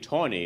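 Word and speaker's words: Taney: Supreme Court roger beat Tony as they pronounce it Mary land says you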